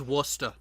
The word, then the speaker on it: Worcester: ] spell the name of it when i pronounce it properly as worcester oh hey jared jared the same words forgotten